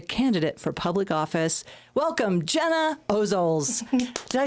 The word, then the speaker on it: Gena Ozols: My guest this week is an activist, a policy nerd, a campaign leader, and a candidate for public office welcome Gena Ozols.